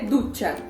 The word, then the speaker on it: ducha: Se escreve ducha, mas ele é ducha.